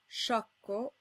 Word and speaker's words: sciocco: The silent I and H rules apply, and you can see them in the words sciocco and scheda.